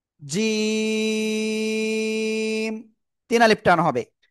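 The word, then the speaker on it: جيم: এ অক্ষরের নাম কি জিম তিন আলিফ টান হবে তো কোন জায়গা থেকে উচ্চারিত হবে এটা উচ্চারণ হবে জিহ্বার মধ্যখান তার বরাবার উপরে তালুর সাথে লাগিয়ে উচ্চারণ করবেন জিম ঠিক আছে প্লিজ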